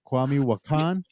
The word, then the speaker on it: Kwame Wahkan: a family member over here at famc media kwami wakan is that how you say it right kwami wakan you pronounced it perfectly right off the bat see